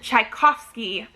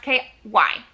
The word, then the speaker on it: Tchaikovsky: november 16th which is elder race by adrian tchaikovsky i'm pretty sure is how you pronounce that o v s t-c-h-a-i-k-o-v-s-k y sure uh yeah adrian tchaikovsky and this one